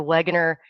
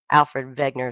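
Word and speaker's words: Wegener: it that way but he was German they pronounce the the that W with a V so Alfred Vagner is what I'm going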